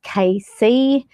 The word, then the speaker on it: Cayce: So Edgar Cayce, pronounced Cayce, was born in 1877 and he left us in 1945.